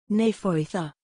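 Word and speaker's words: Nefoedd: her acumen yes precisely it is spelled n-e-f-o-e-d-d but the two-letter d's are pronounced as a th sound what a beautiful name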